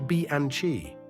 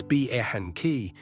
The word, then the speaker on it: Bianchi: You say Bianchi. In Italy, it's Bianchi.